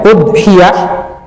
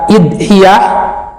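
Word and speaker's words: أضحية: Bisa dibaca dhamma hamzahnya udhiyah, bisa dibaca kasroh hamzahnya dibaca idhiyah, kemudian bisa juga dibuang hamzahnya dohiyah, bisa juga dibaca adhat.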